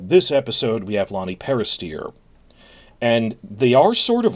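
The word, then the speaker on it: Peristere: Lonnie Peristeer. I used to say Peristair, but then I saw the video, he pronounces it steer, like the heifer, so Lonnie Peristeer, who some of you may know from Netflix's The Witcher series.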